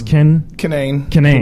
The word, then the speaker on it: Kinane: Did I say it right? No. It's Kinane.